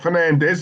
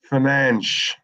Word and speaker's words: Fernandes: No, it's not Fernandez, is it? It's Fernandes.